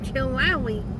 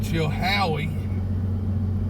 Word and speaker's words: Chilhowie: We just come from Chilawi. Yeah, that's what you get when you got a Japanese truck. You can't pronounce American names. Instead of Chilhowie. We called it Chilawi.